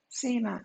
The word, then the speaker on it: Seema: Seema. Seema is how it's pronounced.